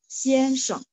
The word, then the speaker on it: 先生: Tapi yang tepatnya untuk teman-teman yang hari ini ikut adalah pakai g ya, 先生, 先生 ya, bisa artinya tuan atau mister.